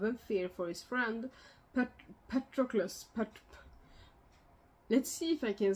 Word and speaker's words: Patroclus: Let's see if I can say this, because I'm trying to say a Greek name with an English accent, or like an English pronunciation. But if I was just doing like a Greek name with my own pronunciation, Patroclus.